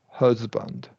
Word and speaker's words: husband: Second A is just a schwa.